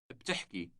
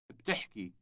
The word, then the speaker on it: بتحكي: بتحكي. بتحكي. The word has two consecutive consonants at the beginning, B and T.